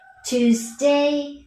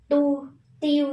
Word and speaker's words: Tuesday: Ok, từ này thì các con lưu ý cho cô âm t và âm z. Ok, các bạn hay đọc là tu tiêu đây. Ok, thế thì thứ nhất là âm t. Ở đây các con nhớ là chúng ta không phát âm giống như âm tờ trong tiếng Việt nhé, mà nó sẽ là một âm vô thanh và bật hơi t.